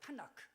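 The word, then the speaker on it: תנ״ך: 타나크. 원래 저기에 토라의 T자와 네비림이라고 하는 N자와 케투빔이라는 K를 합쳐서 KTN이라고 하지 않고 아 발음을 넣어서 타나크 이렇게 합니다.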